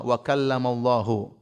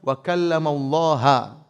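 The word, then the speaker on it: وَكَلَّمَ اللَّهُ: Itu cara bacanya, Allahnya di dhamma, wa kallamallahu. Sehingga maknanya Allah yang subjek, Musa yang objek, Musa alaihissalam. Kata mereka harusnya dibaca wa kallamallaha.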